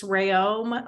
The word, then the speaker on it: Reaume: of pronouncing my name I let everyone know um that it's rayoma like a ray of sunshine and om um of electricity although my husband says that's